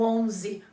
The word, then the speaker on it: onze: que é 11 então dá uma forçadinha no onze como se fosse um som bem nasal aquele ar saindo pelo teu nariz com todas as forças mas fora isso ele